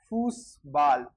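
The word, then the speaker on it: Fußball: उसके बाद में डबल एस और एच सेट का तो देखा ही है अपन ने, इसका होता है स, ऐसे वो वाला। जैसे फूस बाल, फ, ऊ, फू, स, ब, आ की मात्रा आ और डबल एल ल, फूस बाल, फूस बाल।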